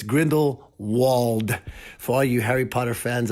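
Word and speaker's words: Grindelwald: there again Grindle would it's not Grendel would it's Grindle wold for you Harry Potter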